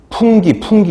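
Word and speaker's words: fungi: 진균류가 보통 우리가 얘기하는 이게 펑가이라고도 읽고 펀자이라고도 읽고 저희 1학년 때 미생물 교수님은 풍기 이렇게 읽으셨었어요. 풍기가 뭐 풍기물 아니야? 뭐 풍기 막 이렇게 해줄 막 뒤에서 킥킥거리고 막 웃었는데 실제로 풍기라고 읽기도 하더라고요.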